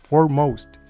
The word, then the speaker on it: foremost: As you can see, we are supposed to stress the second part of this word, foremost.